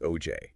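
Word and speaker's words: Auger: Ah yes, augur pronounced OJ.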